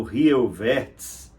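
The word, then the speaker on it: Jan Rieuwertsz: Mas seria o holandês, me parece que a pronúncia é próxima do alemão, seria Jan Rioiverts, ou Rioiverts, né?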